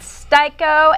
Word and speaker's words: Sty-ko: know Theater history and actually changed the pronunciation from scko myia to styo myia knowing no one in the hip-hop game is going to say styo myia so shorten it to styo very very nice choice